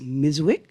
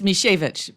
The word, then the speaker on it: Mishevich: Her government name is Miswick. Did I pronounce that properly? Well, it's Mishevich, but I just go by now.